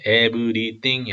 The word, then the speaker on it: everything: I will never again curse the ground because of the human race even though everything 음절 세 개입니다. everything이 아니라 everything 하나 둘 셋 everything they think or